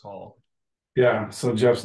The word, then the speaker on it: Hall: Yeah, it's spelled weird, but it's just pronounced Hall.